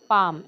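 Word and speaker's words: palm: बोट ते आहे thumb पाम L silent करायचे हे जे आपलं हे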